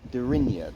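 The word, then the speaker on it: Deryneia: I think it's called Dernier or Derenier. How do we pronounce it? Derinia, they were pronounced. Derinia, yeah. We pronounced it wrong, and the guy didn't even know where we were on about.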